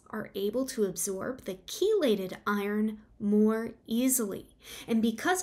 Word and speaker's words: chelated: So I'm going to talk about the supplements that may be gentler on the stomach, and specifically those are chelated forms of iron. So that's spelled CHELATED, chelated forms of iron.